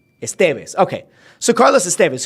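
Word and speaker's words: Estévez: hold on a second I thought it was Estes no EST why do we know that well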